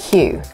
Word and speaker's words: queue: Okay, that makes sense, but why would you eliminate the word queue? It's one of my favorite words. It has five letters, but we only pronounce one.